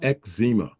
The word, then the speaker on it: eczema: is z m a is ma so it's ezma that is the correct pronunciation so I respectfully disagree with your with